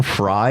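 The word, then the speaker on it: Frey: I don't know anyone that would be Glenn Fry is the one with the dumb spelled name it is spelled f r e y m question three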